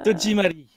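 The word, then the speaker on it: 戸締まり: Comment ça se prononce Tojimari.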